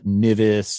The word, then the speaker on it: NVIS: excellent way this is this is called envis or near vertical incident skywave people also pronounce it uh nivis or um a variety of different ways to pronounce it this is great for